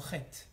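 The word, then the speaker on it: חטא: C'est comme ça que ça s'écrit chet. Ok? Maintenant, dans ce mot-là, il y a un aleph. Et ce aleph-là, on l'entend pas. On ne dit pas chata, on dit chet.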